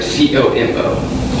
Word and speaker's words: comment: You'll notice in this one that in Como, you stop pronouncing the word essentially after the last vowel. So it kind of sounds like C-O-M-O.